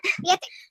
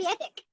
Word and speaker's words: kwiatek: Kwiatek. Did I say it right? Yes. Kwiatek.